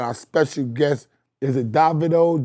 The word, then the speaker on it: Davido: Is it Davido? Devidito. Wait, which way do I say it correctly? Davido.